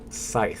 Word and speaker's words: Scythe: the i in the middle no C y Scythe thank you yes Google will always give you